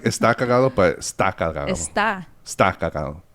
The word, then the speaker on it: Está Cagado: Look up Sam Butler and type in the shit podcast or Está Cagado. Actually, it's spelled S-T-A Cagado.